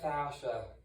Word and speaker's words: fascia: one product yeah it's uh it's it's usually pronounced fascia but that is it's a it's a soft